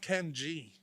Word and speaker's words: Kenyi: Yeah, it's pronounced Ken G. That's beautiful. Yeah, but it's Ken Yi spelled, yeah.